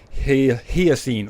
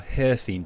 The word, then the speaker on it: Hircine: Because we have a quest, Totems of Hircine, or Hircine, depending if you're speaking to Uriel or Cudlack. They seem to pronounce it differently.